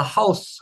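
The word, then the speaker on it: Haus: 읽어 볼까요 하우 하 이거 특히 우리 한국어로 대가 하우스 하면서 우를 잘 안 닿는 사람들이 많거든요 그러면 이게 소리가 나중에 깨져서 보라 됐습니다 입을 딱 조매 주는 느낌 하우스 스스네 좋습니다 그렇게 하면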